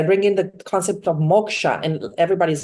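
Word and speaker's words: moksha: my trainings I bring in the concept of Moka and everybody's like what sorry I said Moka m o k s h a i spell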